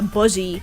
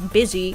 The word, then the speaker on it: busy: what you're saying like I used to say uh Buzzy for like the longest time when I uh spoke English because that's how you wrote it but apparently you're supposed to pronounce it bsy and I'm like what the why do you spell it like that stupid English language